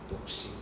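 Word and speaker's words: 独身: I never pronounce the U again, silent U, Dokshin.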